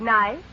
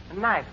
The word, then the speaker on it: knife: study Words which contain letters that we don't pronounce now Mr Basco will you volunteer to spell the word knife knife k n i f d is a silence